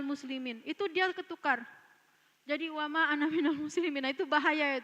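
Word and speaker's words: وما أنا: Yang pertama itu wa ma ana minal musyrikin. Kalau ada anak-anak kita bacanya wa ana minal musyrikin, itu salah.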